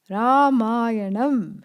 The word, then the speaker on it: Ramayana: Ramayana. Ramayanam.